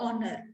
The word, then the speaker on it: honor: ठीकु आहे सो एन ऑनर it's not a honor ठीक है so sound is very important recognition